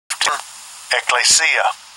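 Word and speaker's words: ἐκκλησία: going to pull it up and get the pronunciation in the Greek. Strong's G 15. Ecclesia.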